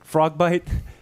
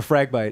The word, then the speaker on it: Fragbite: Am I pronouncing it right? Is it Frogbite, the one in Italy? Or Fragbite, yeah.